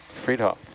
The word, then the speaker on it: Fridtjof: How do you pronounce that first name? Fridtjof.